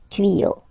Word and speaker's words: tuyaux: Same rule, you don't pronounce it. Des tuyaux.